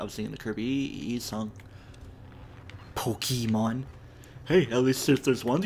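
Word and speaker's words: Pokémon: you need to do crafty stuff today dude Pokemon even though I was singing the kirby song pokemons hey know these sisters one cool think about Alexandria Acacio Cortes she doesn't say pokeyman like other politicians would to see it's actually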